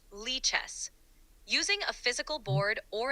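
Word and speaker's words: lichess: most convenient by the way is it pronounced Lee chess or liess it's pronounced Lee chess using a physical board or an online platform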